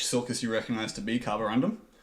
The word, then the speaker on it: carborundum: It's carborundum. How do you spell that? It's like carbon and then carborundum. Undum. Yeah. Carborundum. Carborundum. Random. Undum. American. Gundam without a G.